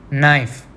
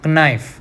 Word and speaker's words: knife: We don't call it as knife. Knife नहीं बोलते ना हम, क्या बोलते हैं? Knife. So K is silent in this word.